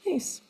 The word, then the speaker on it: Myss: It's spelled M-Y-S-S, although it's pronounced Mace.